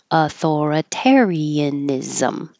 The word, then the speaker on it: authoritarianism: syllables authoritarianism authoritarianism um remember that the I and the a here are going to be separated Ian authoritarian and whenever you have the ending ISM it really sounds like um I'll put here ISM sounds like is ISM